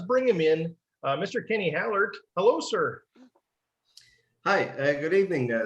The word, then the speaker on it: Hallaert: Well, in my language, the Dutch language, it would be Hallaert. If in English, I'm quite fine whatever people are calling me. Just call me Kenny for the ease of things. But I would say Hallaert or Hallaert or probably the closest one. Like not the AE is at the end of my last name is actually pronounced in Well, and usually people